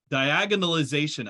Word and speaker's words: diagonalization: Diagonalization.